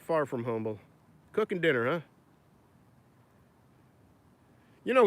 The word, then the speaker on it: Humble: used to work in humble write-down right people from I will say humble but we're not from humble where we worked in humble I don't know why they never pronounced the H and my sons down